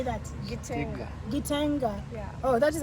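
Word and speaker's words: Gitega: Gitenga.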